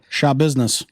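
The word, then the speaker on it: Schabusiness: charged 24 year old taylor denise oh boy it's spelled s-c-h-a business so shaw business show business she looks can you imagine having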